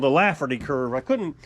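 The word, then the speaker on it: Laffer curve: get it yesterday I kept calling it a flaffy curve it's actually called a laugherty curve I couldn't pronounce it right yesterday in yesterday's video but it's called The laferty Curve and it worked back in the 80s if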